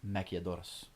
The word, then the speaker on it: maquiladoras: And that is maquiladoras. It's important to roll your R.